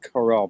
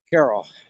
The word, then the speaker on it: Carroll: carol or coral but we don't pronounce it corral but it's spelled that way carol a little bit of